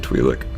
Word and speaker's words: Twi'lek: in a Twi'lek camp how to pronounce that word and I'll say it's Y like I've always said twee lick getting a lot of